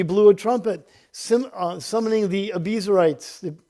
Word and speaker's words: Abiezrites: a trumpet, summoning the Abiezrites. I think that's how you say it. I heard somebody else pronouncing it differently, but for today it's Abiezrites, to follow him.